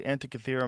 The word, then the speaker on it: Antikythera: Is the Antikythera mechanism?